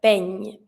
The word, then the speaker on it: peigne: Same thing, I need to hear the ñ, peigne.